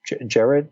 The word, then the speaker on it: Gerads: Tom King and Mitch Gerads. Am I pronouncing his name right? Gerads. I believe it's Gerads. Yeah.